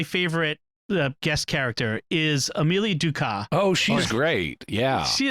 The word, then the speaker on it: Ducat: But her name is spelled Ducat, and like the unit of money in some European nations. And so the doctor initially, more than once, pronounces her name Ducat. But then, yes. But then it's like, oh no, it's Ducat.